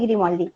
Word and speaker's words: Grimoldi: No, así Grimoldi. Así como suena, ¿Cómo suena?